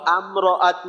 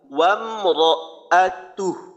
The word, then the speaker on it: وامرأته: لهب سيصلى পরে وامرأته এখানে উচ্চারণটা একটু খেয়াল করব যেন আমরাআতু এই ধরনের না হয় ওয়ামরাআতু র এখানে মোটা যদি অক্ষ করি তাহলে তো টান হবে না কোনো হার মাঝে ওয়ামরাআতু স্থিরতার সাথে উচ্চারণ করব ওয়ামরাআতু আচ্ছা এখানে যেন আম না হয় ওয়াও মিম জবর ওয়াম মিম সাকিনের ইজহার ওয়ামরাআতু লম্বা হবে না ওয়ামরাআতু আচ্ছা পরের শব্দ হাম্মালাতাল